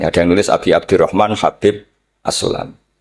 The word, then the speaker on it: Habib: Ada yang nulis Abi Abdurrahman Habib Asulami. Itu di harakatnya kitab itu ada yang nulis Hubab. Tapi yang benar Oh, nggih. Yang benar itu bacanya habib.